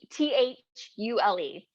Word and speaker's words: Thule: was brought to him t-h-u-l-e oh fuel i know it sounds weird yeah and if that might not even be how you say it could be thule or you're being protected by